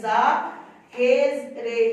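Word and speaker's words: ظاہر: तो इसको हम इसके साथ मिलाकर पढ़ेंगे, हे जेर रे हिर, और ये हिर आ जाएगा, फिर जाहिर, जोए जबर अलिफ जा, हे रे हिर, हे जेर रे हिर, जाहिर।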